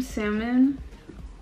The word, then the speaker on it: salmon: about I made some salmon yeah salmon with no uh pronounce the Ellen salmon you need to get